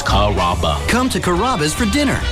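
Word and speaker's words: Carrabba's: kababa Kura it's a really easy name to pronounce it's karaba come to kabas for dinner enjoy chicken marsala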